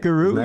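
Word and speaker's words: loup-garou: Like a looparoo, right? Loopuru.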